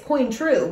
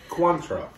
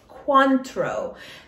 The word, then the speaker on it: Cointreau: con control control coin i say it's queen true but it's cointreau cuantro one of you said